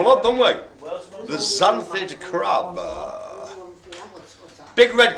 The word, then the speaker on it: xanthid: It begins with an X, but not pronounced X.